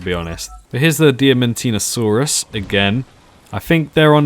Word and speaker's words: Diamantinosaurus: Diamantinosaurus. That's it, Diamantinosaurus.